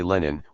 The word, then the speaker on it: Lenin: And this was undoubtedly a revival, engineered by Lenin, I still say Lenin, with the Emilian pronunciation, as the older members of my family used to say it, of what Marx had